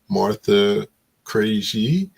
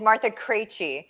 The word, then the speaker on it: Martha Krejci: Um, guest tonight is Martha Cra. And I think I messed it up, so I'll let her fix pronounce me again.